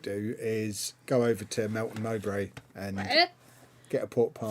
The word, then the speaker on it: Melton Mowbray: What I might do is go over to Melton Mowbray and get a pork pie. Say that again. I might go over to Melton Mowbray and get a pork pie and some sausage meat while I'm there.